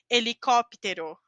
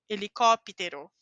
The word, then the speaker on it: helicóptero: dessa letra h h ao início da palavra a letra h não tem pronúncia igual em espanhol mas lembra que a gente disse que colocava um I aqui não é um I super forte como psicólogo Mas você pode falar falar helicóptero helicóptero a letra h acompanhada